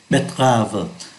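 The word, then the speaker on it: betterave: đỏ củ cải đường ở đây chúng ta không phát âm ký tự ơ betv là car rốt là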